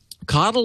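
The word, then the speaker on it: CoDel: what is coddle okay so coddle is the way you pronounce the name of what will end up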